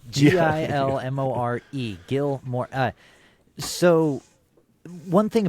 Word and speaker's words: Gilmore: And and uh it's pronounced Gilmore. G I L M O R E.